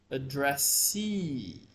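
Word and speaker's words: addressee: here are some examples address you see address you have to say the E very long e okay addressy this word con I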